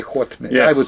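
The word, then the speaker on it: Haut-Médoc: Yeah, you would say Haut Medoc.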